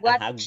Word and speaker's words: watched: Es que yo creo que Candy debería de pronunciar más la T porque yo creo que sí la pronuncia, pero creo que no es tan prolongado el sonido de la T y por eso es que se confunde con ajá, Watched.